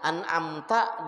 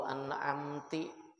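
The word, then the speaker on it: أنعمتَ: Nah, an'amta digantinya an'amtu. Maka meskipun yang salah cuman harakat, maknanya berubah kada sah. Atau an'amti siratal ladzina an'amti alaihim, itu muannas kaina perempuan.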